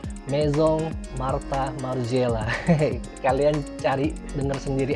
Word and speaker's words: Maison Martin Margiela: saya batinnya begitu mungkin kalau bahasa yang dia dialek-dialek nya Perancis mungkin dibacanya meizong Martha marzella Hei Kalian cari dengan